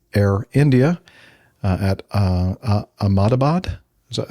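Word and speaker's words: Ahmedabad: A um Boeing yeah Boeing 787-800 operated by Air India uh at uh Amadabad. Is that how you pronounce that? Amadbad.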